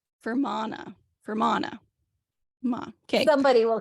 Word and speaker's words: Fermanagh: I know I'm saying that right. I looked up how to pronounce it. And it's like Fermanagh.